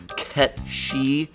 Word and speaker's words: Cait Sith: Uh uh um uh uh actually, Death, it's pronounced Cat Sìth because it comes from a Celtic fairy creature.